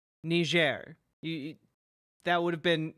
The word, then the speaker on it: Niger: here in Niger Africa known as ner in this nitpick I feel like you could have just pronounced it correctly the first time ner you that would have